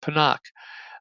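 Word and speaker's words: Pinnock: the game uh Jason panak who I've been pronouncing pinck but apparently it's pronounced panak um 94% of snaps he also had a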